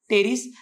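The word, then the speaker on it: Pteris: नाव टेरिस अ प्रकार टेरिस पीटी आरस प silent टेरिस setting setting टम सेटम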